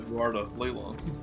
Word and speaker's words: Leilon: It has a bunch of pronunciations, but people who live there, they know it's Leilon. The L is silent.